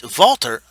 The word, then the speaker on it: WALTER: kane now walter is valtter i say valtter because he's german he knows from austria